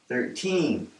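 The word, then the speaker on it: thirteen: into two syllables and we're going to put the stress on the second syllable 13 and all of these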